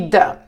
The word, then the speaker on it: the: about a an e the e olha só o The o The na pron você pode ser the assim a língua vai Entre esses dentes assim puxa pra frente the the ou the the e artigos indefinidos a